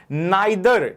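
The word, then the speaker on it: neither: नाइदर या इसको pronounce हम नीदर भी करते हैं। नीदर या नाइदर दोनों ठीक होते हैं।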